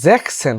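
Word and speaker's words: sechzehn: আর জ্যাকসেন হবে, Jacks S উচ্চারণ হবে না, জ্যাক্স হবে না, জ্যাকসেন, জিপসেন, জিবেনসেন হবে না।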